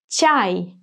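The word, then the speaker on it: чай: Ch as ciao, a as up, and y. Chai.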